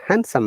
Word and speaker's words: handsome: I met the handsome man yesterday. Look, which man I met? Specifically, the handsome man. By the st Oh, in handsome, yeah, d is silent.